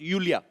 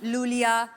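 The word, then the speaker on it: Iulia: यू यू yes pronounce यूलिया। यूलिया एंड the spellings are आई यू एल आई ए। सो आई I think you know. I mean why I. Everyone is calling me लूलिया। Loya.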